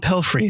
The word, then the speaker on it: Pelphrey: say please apologize in advant I try Tom Pelfrey is that how you pronounce it that's right oh great hey see